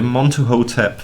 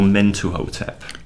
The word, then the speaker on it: Mentuhotep: into the middle king the monte hotep or mentuhotep they're just different ways of saying the name of the god aren't they yes montour men too it really doesn't matter but again obviously a